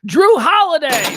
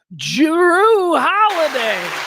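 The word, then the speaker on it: Jrue Holiday: he's the shooting guard Drew holiday there you go sorry let me pronounce that properly I don't think the J was pronounced enough jiru holiday I remember him with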